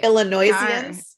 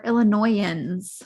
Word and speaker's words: Illinoisans: We Illinoisians? Illinoisians. Okay. I'm a Michigander, so. No, we don't pronounce the S. We're Illinoisans.